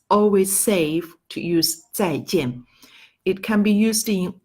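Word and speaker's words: 再见: Jang goodbye okay you can read after me tsai-tien tsai-tien okay that is number one way of saying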